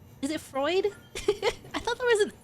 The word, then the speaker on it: Freud: Freud. I thought there was an I. You pronounced it right.